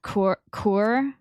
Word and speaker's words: coeur: It's pronounced cour.